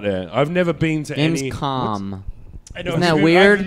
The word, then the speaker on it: Gamescom: I've never been to Gamescom. Isn't that weird? I'm mispronouncing it too. It's all like con. Com. Oh, okay.